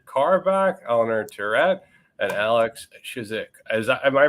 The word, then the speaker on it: Chizhik: Today we have Richard Carback, Eleanor Terrett, and Alex Chizhik. Am I pronouncing that right, Alex?